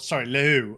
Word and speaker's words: Lehoux: Romain Pichon and Alex Lehoux are taking, Lehoux. I don't think you quite pronounce the H that extensively.